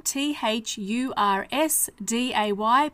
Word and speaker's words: Thursday: silent Wednesday Thursday again t h u r s d a y but we pronounce the s like a zed Thursday Friday on Saturday